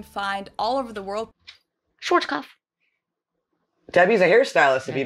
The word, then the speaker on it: Schwarzkopf: In German, we pronounce it Schwarzkopf, which literally means black head. Schwarzkopf. English native speakers usually pronounce it Schwarzkopf or Schwarzkopf or something along those lines.